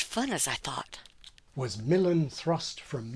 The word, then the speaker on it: Milan: as I thought was Milan thrust from Milan but in more Modern English we put the stress where it is in Italian on the second syllable I say Milan as recently as the